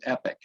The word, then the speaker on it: EPIC: long tortured acronym but the only way to pronounce it is epic and that was a